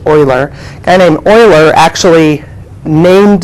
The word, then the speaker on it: Euler: named Euler and it's spelled EU le are pronounced Euler and an Euler actually named the the number